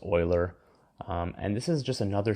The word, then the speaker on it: Euler: Euler's number okay it was a mathematician it's pronounced Euler and this is just another symbol to represent